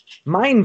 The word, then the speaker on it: Mein: Mein wird das ausgesprochen, oder der Nachname? Ja, korrekt.